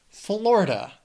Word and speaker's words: Florida: Florida. It also has 3 syllables and the stress is on that first syllable.